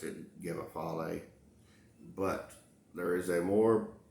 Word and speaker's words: Gebafal: and the word is g-e-b-a-f-a-l um it's been pronounced gamma fall and then with the absolute character phonetic i've long pronounced it give a folly but there is a more pure proper enunciation